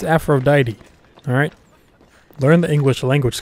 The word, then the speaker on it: Aphrodite: promise okay I'm sorry how did you pronounce that afro DeeDee its Aphrodite alright learn the English